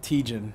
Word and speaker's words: Tietjen: Matt Tiegen. Matt Tiegen, Yeah. okay. Go ahead and spell it for him.